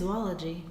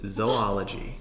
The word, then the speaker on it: zoology: said it last week zoology yes Balaji but it's not it's zoology no if you look